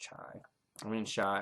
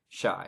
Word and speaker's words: Chai: And if you need any help, just ask Shai. I can call him Chai because it's spelled Chai, but Shai. His name is Shai, Chai, Shai, the fairy.